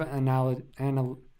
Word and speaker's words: analogous: It's kind of analogous. I think so. Analogous. I don't know if it's a hard G or I don't think it's a hard G.